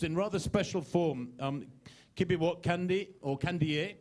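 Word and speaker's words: Kandie: Kibiwot Kandi, or Kandiye. It's Kandiye, isn't it, Kibiwot? So it looks like Kandi on paper, but if any of you need to pronounce it, it's Kibiwot Kandiye.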